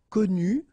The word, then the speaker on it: connu: Connu, so exactly the same thing. I did put the feminine form here, but then phonetically it doesn't exist.